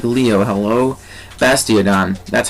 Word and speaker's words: Bastiodon: Dion wow I said it like Leo hello bastiodon that's how you say it so I'm going